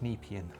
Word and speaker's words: Nepean: is we are going off to the, it's pronounced Nepean. I wrote it down wrong. Nepean River. So the people in in Marsden Park tell us about this person Alex, who set off to reach the Nepean River, which is not that far away.